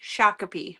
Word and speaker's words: Shakopee: Uh, it is pronounced Shakape. Shakape.